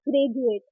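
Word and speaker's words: graduate: पढ़ जा, जैसे कि ग्रेजुएट। तो डी के बाद क्या रहा हमारा यू ए, तो यू ए टी ई, यू ए टी ई को प्रोनाउंस कर रहे हैं जा के रूप में ग्रेजुएट, जैसे कि सोल्जर।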